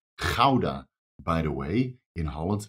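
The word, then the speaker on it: Gouda: which I do know that rats love their GAA cheese and it's pronounced Kaa by the way in Holland not GAA but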